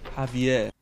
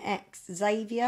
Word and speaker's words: Xavier: this game's for though Javier let's start with an ex Xavier have you no you baby Spanish you don't pronounce the ex happier Xavier oh wow